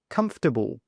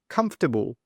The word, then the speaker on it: comfortable: This one here is comfortable. Comfortable. The stress is on the first sound, comfortable.